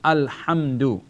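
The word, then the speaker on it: الحمد: this word all right we have al because the lamb has a sukoon so it has to be pronounced in conjunction with the previous data vowel I'll assume only ha with the mean because the Mimi's vowel is hum-hum dal dama do al-hamdu al hamdu suppose we have a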